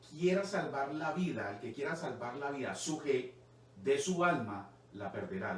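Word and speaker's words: ψυχή: Después sigue suje, que se escribe P-S-U-J-E. Se describe en Mateo 16:25, porque el que quiera salvar la vida, suje, de su alma, la perderá.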